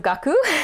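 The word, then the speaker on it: 学: kun yumi of that so gaku would be the onyo me but the kung yomi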